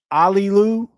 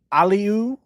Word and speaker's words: Aliou: So, this kid's name is pronounced Aliu, Aliu, and then the last name is pronounced Joom. So, Aliu Joom, right?